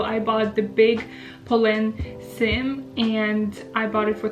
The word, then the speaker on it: Cyme: my Poland seim bag some people call it s but I'm pretty sure the right pronunciation is Sim so before we begin